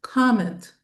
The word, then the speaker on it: comment: So, it's two syllables. Comment. Comment. Not comment. Comment. Okay.